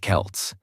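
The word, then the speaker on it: Celts: These ancient people were called the Kelts, pronounced Kelts, and they didn't have Instagram or iPhones.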